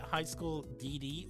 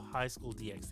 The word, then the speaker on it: High School DxD: Is it High School DD or High School DXD? Because everyone wants No, it is it is actually pronounced high school DD.